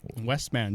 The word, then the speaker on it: Westman: Westman. Just like it sounds.